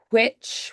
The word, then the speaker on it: which: I know that if we were doing a British pronunciation, a lot of the time they'll do the WH as which with that H first. Which one, right? So you'll do that huh sound first, but in American English, we don't differentiate.